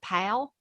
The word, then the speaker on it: Powell: where kimberly's from i'm from powell tennessee p-o-w-e-l-l but everybody there pronounces it pal tennessee so if you smile when you talk you get kind of close to that i can't do it